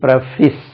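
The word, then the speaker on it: preface: ஒரு வேர்ட் இருக்கு பாருங்க பிஆர் இப் ஏசி இதை கேட்டாச்சுன்னா ப்ரீபேஸ்ன்னு சொல்றாங்க இது பிரபிஸ் பிரபிஸ் நான் சொல்லுவேன் அழகா முதலும் கோணல் முற்றும்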